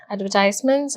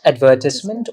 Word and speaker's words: advertisement: are the benefits of advertisements advertised so both are right uh you can either pronounce it as advertisement or advertisement advertisement as the uk style of pronouncing this word advertisement as the american style so in today's video